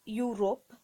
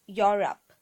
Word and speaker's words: Europe: one is we have learnt in school saying you rope no it's Europe Europe is a continent Europe not Europe next one